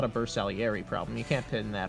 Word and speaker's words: Bersaglieri: Now let's talk about the Basigliere from Italy, the new civ. My Now, heart it's wants pronounced, me. I hate to interrupt you here, but it's pronounced Bersaglieri. The G is silent.